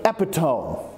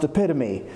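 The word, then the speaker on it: epitome: them with other people words like uh like epitone which is actually pronounced epitomy or like Epiphany which is actually pronounced Epiphany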